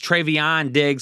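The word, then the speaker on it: Trevon Diggs: seeing some Trayvon Diggs trayvion digs for those of you out there that thought I was mispronouncing it last video which I wasn't uh AJ Brown digs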